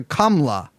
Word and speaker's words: Kamala: Instead, it's more subtle, closer to Kamla.